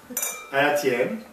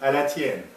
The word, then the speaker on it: à la tienne: à la tienne, Oh, what's that? to use. How do I To, say it? à la tienne. À la tienne.